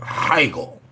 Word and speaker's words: Hegel: Plato is one, but one was real interesting was the dude Friedrich Hegel.